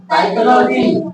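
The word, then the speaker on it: psychology: यानी एन से पहले पी हो या एस से पहले पी हो हम पी को प्राय साइलेंट करके बोलेंगे।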